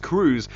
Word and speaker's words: Cruz: who reminded me that it is Cruz it is pronounced Cruz I should have I immediately thought oh it's like Santa Cruz how did I not